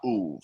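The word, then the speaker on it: אוב: So she is the Mahalat Uv. Is how it's spelled O-B, but it's pronounced the Uv.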